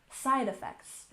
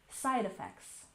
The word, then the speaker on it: side effects: Emphasize the first syllable, side effects. Again, we tend to smush these words together when we're using them in a medical sense. Side effects, side effects.